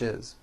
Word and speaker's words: is: this is how English is here we go the word is it's not is on voice it's pronounced as if it were a z is this is good